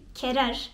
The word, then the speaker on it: querer: Bu da tıpkı G, U, E ya da G, U, İ'de olduğu gibi U'nun telaffuz edilmeden çıkarıldığı bir sesi veriyor bize. Örneğin querer ya da quiero.